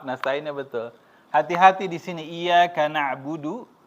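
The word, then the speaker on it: إِيَّاكَ نَعْبُدُ: betul hati-hati di sini iyaka nabudu pendek tidak panjang salah kalau panjang itu ya hanya kepadamu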